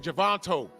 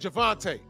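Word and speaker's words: Gervonta: was a part where someone said his name wrong, and he corrected him. Javante. And Jake Paul said Javanto. He said Javante.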